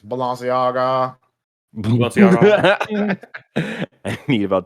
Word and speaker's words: Balenciaga: Prices for Fortnite's collaboration with fashion brand Balenciaga will make your eyes... You're saying it wrong. It's Balenciaga.